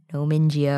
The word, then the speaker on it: Nomingia: I had assumed the Gaia was like Gaia, the earth spirit sort of thing, but it's named after a place that's in Mongolian, and it's also been Latinized.